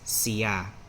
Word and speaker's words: siya: So it's pronounced as siya. Siya, okay? He, she, it, siya. Siya. A lot of people say it fast as siya, siya, but siya.